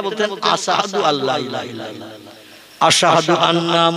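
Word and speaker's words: أشهد: আশহাদু শিন, এই অক্ষরটা উচ্চারণ করতে পারতেন না, বলতেন আশহাদু আল্লা ইলাহা ইল্লাল্লাহ, আশহাদু আন্না মুহাম্মাদার রাসূলুল্লাহ। এই আশহাদু শব্দটা শিন অক্ষর দিয়ে উচ্চারণ করতে হয়।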